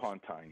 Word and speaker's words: Pontine: Pontine, that's the way you pronounce that, right? The Pontine marshes? Pontine, yeah.